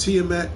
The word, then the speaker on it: Tiamaat: It's pronounced Tiamat.